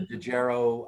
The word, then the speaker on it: Dejero: it's a company oh it's a company the dejero uh app for the phone and uh the